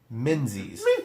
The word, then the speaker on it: Menzies: And yes, I said Luke Menzies. Spelled with a Z. But still... maybe there's international viewers out there, but I think most people in the U.S. know that in our dialect, in our language, Menzies happens to be a euphemism